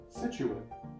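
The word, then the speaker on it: Scituate: It is pronounced Situate.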